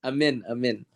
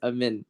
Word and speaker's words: Amine: Before we continue, it's pronounced Amin. I'm The in. second name. Yeah. So Amin.